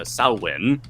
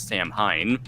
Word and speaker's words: Samhain: the end of the harvest season with uh sauwen uh or some people may mispronounce it as sam hein samhain even um and so over time this